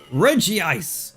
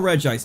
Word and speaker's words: Regice: Regice! Or Regice, depending on your pronunciation.